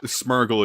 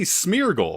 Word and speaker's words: Smeargle: it mess up like you guys pronounce smurgle as smurgle right but it should be smeargle because it's like smear and Beagle hello Ace hello everybody